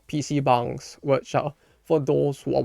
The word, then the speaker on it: PC bang: went to places called PC Bangs which for those who are wondering what that is. No, it's it's not me mispronouncing the word. That's how it's supposed to be pronounced.